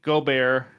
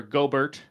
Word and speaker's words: Gobert: who's in my doghouse right now Mr Rudy goar or gobert if you don't want to pronounce it the right way um he's averaging